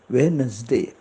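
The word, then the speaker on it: Wednesday: डी ए वाय वेडनेसडे नाही म्हणत वेडनेसडे वेनसडे म्हणजे टी हा तोंडातल्या तोंडातच असतो तो उच्चारत नाही वेनसडे उच्चार स्पेलिंग मध्ये तो डब्ल्यू इडी एन इ एस डी ए वाय आहे पण उच्चारात तो दाखवला जात नाही वेनसडे बुधवार थर्सडे टी एच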